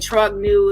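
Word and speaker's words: Trogneux: And then when I say something like that, I mean Trognu is the pronunciation because it's French.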